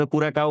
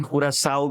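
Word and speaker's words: Curaçao: यसको सहि उत्तर हुन्छ कुरा काउ भन्छ हैन कुरा साउ पनि हुन्छ कुरा काउ पनि हुन्छ हैन आफ्नो प्रोनन्सिएसन हुन्छ जसको पनि यो चाहिँ तपाइको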